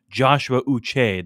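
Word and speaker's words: Joshua Uche: of it last week it's Joshua uch that's how they pronounce the name now really gosh not Josh Joshua Joshua but um so it's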